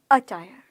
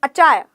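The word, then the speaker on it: attire: नहीं तो क्या बोलोगे अचायर अचायर अटायर च नहीं बोलना ट बोलना है अटायर अटायर अटायर अटायर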